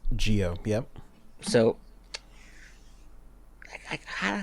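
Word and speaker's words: Zi-O: How is Geo? Fuck, I hate that pronunciation so much. Z's are pronounced as G's and J's in Japan. So it's Geo. Geo.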